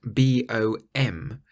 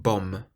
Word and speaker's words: bom: bone now it's spelled b-o-m that the M isn't pronounced clearly it's not bomb but bom it's what's called a nasal sound at the end if you imagine it's